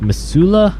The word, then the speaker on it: Missoula: also had i guess missoula that's how i'm going to say it and i believe that's how you pronounce it in montana uh that was a